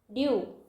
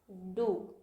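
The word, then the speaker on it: dew: ड्यू, डू। देखिए इसको हम लोग ड्यू पढ़े, लेकिन इसको हम लोग ड्यू पढ़े क्या, नहीं पढ़ रहे ना, इसको हम लोग पढ़े डू।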